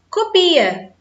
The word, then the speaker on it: copia: vejamos aquele pênis cópia reparem que o som é aberto cópia é um substantivo e copia do verbo copiar eu copio tupia selo ela copia então existe uma diferença na pronúncia mas a grafia é